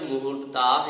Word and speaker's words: मुहूर्ताः: यहाँ जो मुहूर्ताः यह पद है, इसमें माँ में छोटा ऊ की मात्रा है, लघु ऊ है, तथा हा में दीर्घ ऊ है। इस प्रकार से यहाँ उच्चारण होगा मुहूर्ताः। माँ में जल्दी उच्चारण करना है, मुहू।